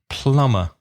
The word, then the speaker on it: plumber: an aerophone danira and it has a silent B in the middle it's PLU mb e our plumber do you